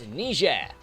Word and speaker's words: Niger: First up, it's Niger, or Niger, however you want to pronounce it.